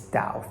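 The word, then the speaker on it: 禱: It's Dao, third tone, as in to pray.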